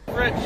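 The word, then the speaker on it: Fritsch: Yeah, Fritz. Fritz? Spell that for me.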